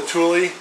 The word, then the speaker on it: Thule: You guys said it's pronounced Thule.